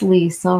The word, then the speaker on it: Lisa: My name is Lisa, rhymes with diesel.